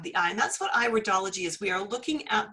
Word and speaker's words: iridology: It's not iridology, it's iridology, because it's an iris we're looking at.